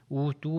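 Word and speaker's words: أوتوا: اب آپ کا یہاں پر ایک سوال ہوگا کہ واو جو ہے اوتو میں اگر اکیلا پڑھا جائے گا تو تلفظ ہوگا، بالکل اس کو لمبا کریں گے اوتو. مگر جب ملایا جائے گا تو وہ واو لکھا جا رہا ہے مگر پڑھا نہیں جائے گا، کیونکہ آپ پھر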